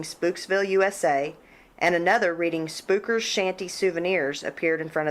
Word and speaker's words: Spooker: Inside, new You're not saying it right. You got to say it like you're from the area. You act like you ain't ever been down to the southern part of Missouri before. It'd be spooker. Spooker.